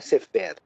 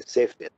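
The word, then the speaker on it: ספר: sefer, por exemplo, né, você vê que a sílaba é tônica, né? A palavra sefer quer dizer livro, então não é sefer, é sefer, né?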